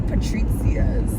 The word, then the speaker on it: Patrizia's: real new york experience go to patrizia's like patricia's like patricia gucci that's how you spell it patrizia's um it's in